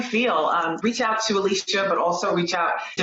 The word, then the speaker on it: Alysha: I'm on LinkedIn, Alicia, A L Y S H A, but pronounced like Alicia Keys.